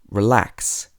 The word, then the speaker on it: relax: And in two-syllable verbs and prepositions, you normally stress the second syllable. For example, relax, receive, between, among. So you wouldn't say relax, receive, between, and among.